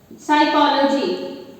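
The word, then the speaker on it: psychology: अब जैसे हम शब्द लिखते हैं साइकोलॉजी, तो साइकोलॉजी में जो पी वर्ड है वो साइलेंट रहेगा।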